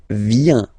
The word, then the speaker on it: vient: Il, elle, vient. Final T not pronounced.